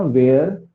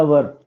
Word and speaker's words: were: वी वेयर at home, ये जो pronunciation है ना वेयर, ये गलत प्रोनाउंसिएशन है, ठीक है। वेयर नहीं बोल के क्या बोलना है इसको, कैसे बोलना है, हाँ, वो शादी वाला वर, वर जानते हैं, शादी में एक होता है ना वर और वधु, तो वो वाला वर बोलिएगा।